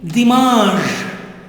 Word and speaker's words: dimanche: Learn the, Mahdi, Mahdi, learn the, repeat, Mahdi, jeudi, EU takes the sound of jeudi, vendredi, samedi, dimanche, dimanche. N is not pronounced, it is nasal, it becomes nasal.